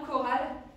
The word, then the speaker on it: chorale: Alors est-ce que vous vous rappelez comment est-ce qu'on écrit que dans chorale? C'est CH. Voilà, c'est CH. Alors dans chorale, on n'entend que et ça s'écrit CH.